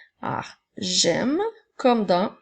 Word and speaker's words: j'aime: avec le mot j'aime dans le mot j'aime nous avons le son J qui s'écrit avec le J apostrophe ensuite le son est et le son un peu n'oublie pas que pour entendre le M tu dois mettre le E ah j'aime comme dans